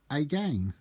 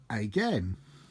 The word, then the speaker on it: again: can be heard so when rhyming with words such as pain main or Jane the way to pronounce it is simply a game but to get it to rhyme with Ben men or ten pronounce it correctly by saying again how I came to